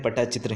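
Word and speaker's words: ପଟ୍ଟଚିତ୍ର: करते हैं उड़ीसा से पट्टा चित्र और पट्टा चित्र दोनों टाइप से ऐज लिखा जाता है ठीक है ना और एज ए प्रोनाउंस करते हैं पटा चित्र ही ठीक है ओड़ीशा का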